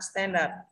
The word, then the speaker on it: standard: Standard thì âm ir đây phát âm là âm ơ, trợt là ơ, âm standard ơ có nghĩa trọng âm thì rơi về stand.